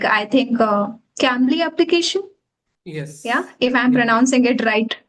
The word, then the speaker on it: Cambly: having conversation with a lady like I think Cambly application. Yeah, Yes. if I'm Yeah. pronouncing it right. Yeah. Yeah, it is Cambly.